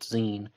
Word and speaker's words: Xen: she said that um he actually went by the nickname zine he spelled it xen but he pronounced it zine and this guy needs